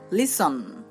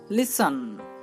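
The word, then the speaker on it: listen: Next S টি, এরও উচ্চারণ দন্ত স হয়, যেমন লিসন। লিসন, দেখুন এখানে আমরা এস টি পাচ্ছি এবং তার উচ্চারণ হচ্ছে দন্ত স।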